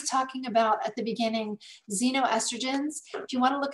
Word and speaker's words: xenoestrogens: When I was talking about at the beginning, xenoestrogens, if you want to look it up, it's spelled with an X, X-E-N-O, estrogens.